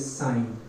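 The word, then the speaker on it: sine: First ratio which is साइन, जिसको short में कैसे लिखना है? SIN। Both are pronounced as साइन, इसको कोई सेन नहीं पड़ेगा।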